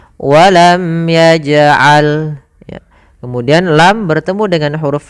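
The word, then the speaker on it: ولم يجعل: di sini warna ungu, itu hukum bacaannya qalqalah, yaitu suara jimnya dipantulkan, tidak walam yaj'al tapi dia ada pantulannya, walam yaj'al.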